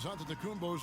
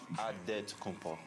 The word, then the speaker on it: Antetokounmpo: Way you gotta say with a D, so it's Antetokounmpo. But in the Greek way, you say with the NT, like Antetokounmpo.